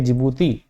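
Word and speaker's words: Djibouti: ठीक है, डी वाला ये इसमें डी साइलेंट है, इसको जिबूती बोलते हैं, इथियोपिया, एरिट्रिया और ये सोमालिया।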